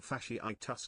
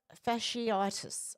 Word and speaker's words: fasciitis: Regarding the new STD, the word you were trying to pronounce is pronounced necrotising fasciitis. Necrotising fasciitis. It's type of strep virus. Thank you, Timmy. God love you, you legend. So, it's fasciitis.